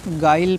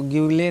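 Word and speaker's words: guile: मत करिए ठीक है गाइल पढ़ना है इसको गले नहीं गाइल पढ़ना है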